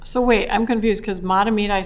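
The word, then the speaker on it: Mahtomedi: Sometimes this can line up with the rates in the sense that you see Circle Pines and Matamedi, excuse me, that pronunciation may be incorrect. Matamidi. Matamidi, thank you.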